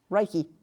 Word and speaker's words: Reiki: Reiki.